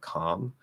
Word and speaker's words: calm: So whenever I hear somebody add an L to a word like calm, it stands out for sure.